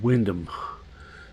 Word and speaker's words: Wymondham: On Wyndham, which is spelt Wymondham.